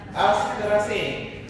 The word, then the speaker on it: Asteraceae: Oh, I use British pronunciation. You call it Asteraceae.